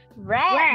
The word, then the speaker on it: read: Red, red, đúng rồi, đọc là reach. Red và vẫn viết là read nhưng đọc là red.